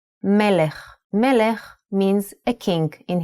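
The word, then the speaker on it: מלך: So how would you read this word? This is melech. Melech means a king in Hebrew. Melech.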